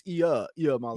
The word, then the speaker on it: Iamaleava: It's Iamaleava. Iamaleava, right? Iamaleava.